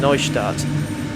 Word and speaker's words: Neustadt: i'm pretty sure that when you see the eu together in a german word then that's like oh i or you pronounce it as if it was like spelled o i case in point dresden